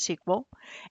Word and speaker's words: SQL: what sequel is is it's a structured query language pronounce sequel and it's used to